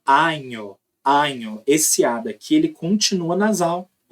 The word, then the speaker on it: año: Inclusive, muitos falantes de português que começam a aprender espanhol falam anho. Eles não falam assim. Eles falam año. Feliz año nuevo. Né? Então é año, año.